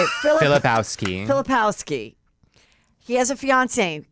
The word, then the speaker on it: Filipowski: Filipowski.